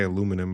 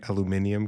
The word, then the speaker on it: aluminium: I mean, as Americans, we say aluminum, but it should be aluminium because there is an I.